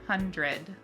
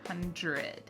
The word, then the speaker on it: hundred: Sorry, pronounce we pronounce um we would generally pronounce like hundred like you would hear that dr sound hundred but in Michigan how would they say it?